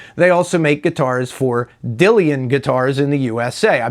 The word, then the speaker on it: Dillion: into very closely they also make guitars for dillian guitars in the usa i believe i'm pronouncing that right d-i-l-l-i-o-n dillian and their guitars